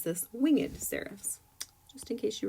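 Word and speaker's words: wingèd: This is actually not a typo where it has that little emphasis over the E. So instead of pronouncing this winged seraphs, you're going to pronounce this winged seraphs, just in case you were curious.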